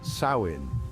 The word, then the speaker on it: Samhain: the earth celebrated a festival called samen pronounced sain this festival marked the